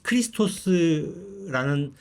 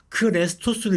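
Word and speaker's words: Χριστός: 근데 그걸 연구한 학자들에 의하면 많은 곳에서 크레스 크리스 크리스토스라는 말을 발음을 잘 못 해서 크레스토를 읽었대요.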